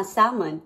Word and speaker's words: salmon: pa ako sabi niya ah Salmon Ah ganun pala ang pronounciation Hindi naman ako naman ako na-update h pala binabasa yung L Anyways lutuin lang natin